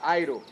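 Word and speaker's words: αἴρω: Essa palavra corta é uma palavra em grego que ela se pronuncia airo.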